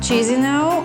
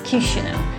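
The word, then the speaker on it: Chișinău: let's start exploring cushino it's not cheesy now or shizuno it's kishina somebody call it the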